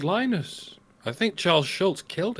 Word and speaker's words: Linus: It's not Linus, it's Linus or Linus.